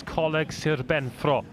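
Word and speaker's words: Coleg Sir Benfro: Of course, colleague Sir Benfro would be the correct pronunciation.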